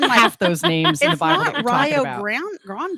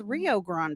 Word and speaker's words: Rio Grande: and i can't say i'm just thinking laugh grande it's rio grande and it's rio that makes sense to me yes look at her throw on some logic truthfully conversation it's the rio grande okay just saying no